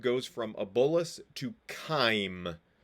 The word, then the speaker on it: chyme: from a bolus to chyme c-h-y-m-e is so it's a k like sound CH in this case chyme partially digested food